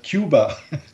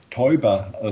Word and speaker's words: Teuber: handle yeah okay in in the US my name is uh pronounced as tuba so normally in Germany it's called Toba so there's also uh